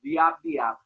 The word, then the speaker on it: Jab Jab: to me, is the jab jab. Jab jab. Really, or the real pronunciation is diab diab.